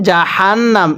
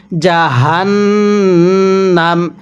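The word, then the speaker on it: جهنم: জাহান্নাম। অর্থাৎ এই হাগুলো উচ্চারণ করার সময় আপনি মুখে একটু আওয়াজ করবেন। গলার মধ্যে একটু আওয়াজ করে পড়লে হাগুলো সহিহ শুদ্ধ উচ্চারণ হয়।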